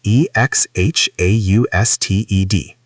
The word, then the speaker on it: exhausted: Look at e x h a u s t e d. The h is completely silent.